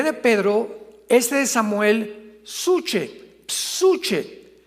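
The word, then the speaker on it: ψυχή: de Pedro, de Samuel, psuche, que en el hebreo se pronuncia suje, porque la CH se pronuncia en hebreo como J.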